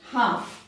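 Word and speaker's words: half: हाफ, देखिए एल के पहले ए आया, हाफ, एल साइलेंट है।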